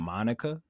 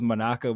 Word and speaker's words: Monaka: funny how like the the pronunciation in the dub kind of made it sound like they kept calling him Monica. I know it was Monaka, but it kept sounding like they were saying Monica. So I was like I